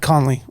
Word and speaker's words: Conley: Is it Brad Conley? That's right. Brad Conley.